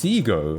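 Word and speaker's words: Segoe: a how do you how do you actually pronounce that I I think I say SEO but like I think that's wrong um SEO it's SEO according to Wikipedia um yeah um I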